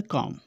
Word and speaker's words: comb: तो B जो नहीं बोला जाता है comb, इसका उच्चारण होता है comb।